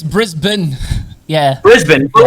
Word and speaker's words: Brisbane: name's weird because you guys always call it brisbane yeah it's brisbane yeah brisbane but like the way it's spelled and if you're like especially if you're